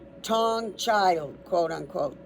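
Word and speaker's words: Taung: The remnants were called Tawn Child. T A U N G child. So this skull, he gave it the name Raymond Dark gave this skull the name Tong Child.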